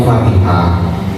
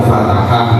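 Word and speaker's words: فاتحة: Kalian itu tanpa terasa walaupun tidak belajar sorof atau lupa dengan kaidah sorof, itu ingat ini bacanya Fatihah, tidak lagi dibaca Fatahah misalnya.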